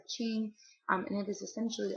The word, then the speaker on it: Qing: D the Ching Dynasty it's spelled with a q but it said Ching um and it is